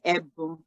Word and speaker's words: Ebun: So we say Ebu. So you can see the E has a accent at the bottom. So that's an E. So you say Ebu.